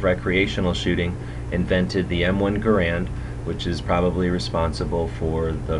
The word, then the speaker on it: Garand: out from the research he preferred to have his name pronounced like the word errant although I grew up calling it an m1 garand so I'll probably slip